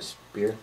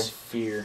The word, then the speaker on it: sphere: Now, I'm very curious about this, what you call it, a spear? Spear? Sphere.